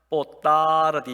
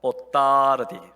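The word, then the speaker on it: boa tarde: 뽀따르디 이러면 안 돼요. 뽀따르디. 따가 길어야 돼요. 뽀따르디. 길면 길수록 좋습니다.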